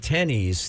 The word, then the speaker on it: Teneez: There's a site here called Tennies, Teneez, Tennies, like tennies, tennis shoes.